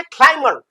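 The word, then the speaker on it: climb: अच्छा, अब ये है क्लाइमर। अब ये क्लाइम बन गया चढ़ना या चढ़ाई, और ये क्लाइमर चढ़ने वाला या पर्वतारोही। क्यों? क्योंकि ये क्लाइम से बना है। तो क्लाइम एक यहाँ बी साइलेंट है, तो ये क्लाइमर, यहाँ ये बी साइलेंट रहेगा।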